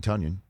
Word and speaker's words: Tonyan: You got 12, and you got 17, and then you got 85, Robert Tonyan. Don't call me Tonyan. Rhymes with Funyon, Tonyan.